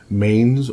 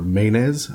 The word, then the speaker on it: Manes: And the very first one is the Mains or Manes. I've heard it pronounced both ways. A single one of these is called, spelled M-A-N-E-S. So some people say Main, some people say Manes.